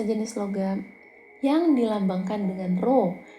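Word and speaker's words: ρ: logam yang dilambangkan dengan row yang seperti huruf P ini P ini dibacanya rho ya ro = massa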